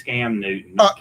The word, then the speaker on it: Cam Newton: He pronounced his name wrong. It's Cam Newton.